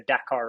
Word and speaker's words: Dakar: So if you're American, typically everyone pronounces it Dakar, but it's the proper way to say it as far as the Dakar Rally, you would put emphasis on that first A. It's the Dakar Rally.